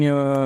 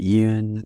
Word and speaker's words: Yeun: Yay, who we love Steven Yeun. We do. It had a whole thing where he was like, "My name's pronounced Yeun, not Yoon," and it was on Conan and shit.